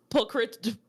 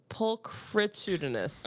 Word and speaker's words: pulchritudinous: It's pulchritinous. Pulchritinous? Pulchritudinous.